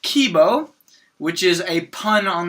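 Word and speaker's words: K1-B0: bo was one said fully his name is pronounced Kibo which is a pun on the Japanese word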